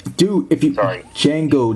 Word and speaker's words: Django: So yeah, for the father, which his name is Django. Dude, if you sorry, Django, the D is silent, for Christ's sake.